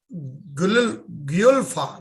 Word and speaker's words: Guelfa: And if I'm correctly pronouncing it, it is called Knight of Parte Guelfa, right? Is that Guelfa, correct, Chris? Yep. Guelfa, yeah.